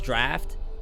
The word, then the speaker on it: draught: Healing drought can now be crafted and upgraded.